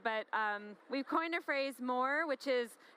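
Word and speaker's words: MOAR: we've coined a phrase more which is spelled mo AR which is more which is spelled like roar so you like have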